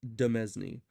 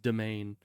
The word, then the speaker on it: demesne: way to spell that I guess the S is silent in a lot of words but still anyways and